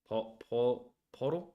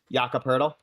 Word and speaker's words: Jakob Poeltl: I actually don't know how to pronounce that last name. Podol? Jakob Poeltl.